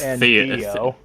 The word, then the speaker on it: Theo: It just sounded like Dio when you said Theo right there. What the hell? I think Don't they have the same pronunciation? Am I just going insane? It's Theo.